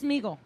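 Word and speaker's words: Sméagol: where Smeagol, Smegel. am I saying it wrong? Smeagol, It's Smeagol.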